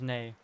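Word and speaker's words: nie: So, it's nay. Yeah. Yeah, that makes sense. Uh, you think you would pronounce more like you would say nay in English? Oh, okay. Cool. But you spell it near because in in Africans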